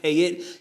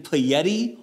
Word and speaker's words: Payette: pronunciation of this wallet it is pronounced pay it it could have been play Yeti or pay Yeti but apparently I got